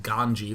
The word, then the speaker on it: GanZi: and by the way his name is actually pronounced ganji for any of you who are being like Oh my God it's a z and Day N doesn't know oh no what are